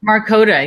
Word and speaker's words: Markota: Is it Markota or Markata? Markota. Yeah, you got it right this time. Yeah. Awesome. It is Bay. It's like the state Dakota.